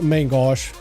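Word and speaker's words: main gauche: Technically, it's main gosh or my gosh, somewhere along those lines. There's like a French pronunciation. There's like an American pronunciation.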